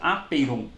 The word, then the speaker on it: apeiron: Pronuncia aperon, tá?